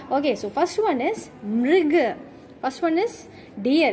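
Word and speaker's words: मृग: Okay, so first one is mrig.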